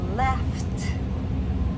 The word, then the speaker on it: laughed: Have you laughed? So, we have that f sound. We don't say laughed.